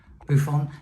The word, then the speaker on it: Boifun: I pronounce it Boifun.